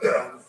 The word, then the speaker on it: Johanna: So Joanna is spelt with an H that you don't say. Mm-hmm. So like in German they go Johanna, but in English you just say Joanna.